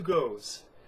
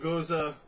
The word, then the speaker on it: Gose: is Sam Adams good to go got to goes from got to go so sorry I am i mispronounced it most most goza sort of um gears are puns on the